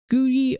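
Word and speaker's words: Googie: I also don't know how to pronounce that. Is that Googy or Guji?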